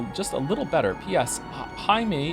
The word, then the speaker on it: Jaime: Jaime is pronounced in like the hide in Hideyoshi, but with an M. Jaime?